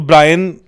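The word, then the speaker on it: Brian: तो टू be honest मुझे आज तक पता ही नहीं था कि वो ब्रायन है ब्रेन नहीं है बिकॉज स्पेलिंग में बी आर ए आई एन आता है वच इज ब्रायन आई ए आता है ब्रेन नहीं नहीं ब्रेन नहीं था ना ब्रायन है हम the name is ब्रायन बी आर आई ए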